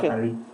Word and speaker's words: Kakari: The name is Kakari. It's spelled Kakari, but it's being pronounced Kakari.